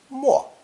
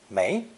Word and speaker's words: 没: in swirling water means to submerge or disappear, pronounced fourth tone, 没, as in 出没, to appear then disappear, or visit a location frequently. 5. When pronounced second tone, 没, this character serves as a negative, meaning no,